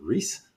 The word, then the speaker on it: Reiss: how do you say your name is it Rees yeah it's ree yeah okay some people could pronounce it R Rees oh yeah I thought